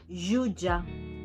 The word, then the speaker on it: jutge: Por lo tanto, la G delante de la E o de la I y la J delante de cualquier vocal se pronuncian J. Así, por ejemplo, tenemos germà, Girona, Janoll, Jutge, Joguina, ¿no? Fijaros en la diferencia. Uno es un sonido sordo en español y el otro es un sonido sonoro.